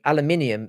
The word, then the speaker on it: aluminium: of us some somewhere aluminum is the American pronunciation aluminium is the original name of the element thank you for clarifying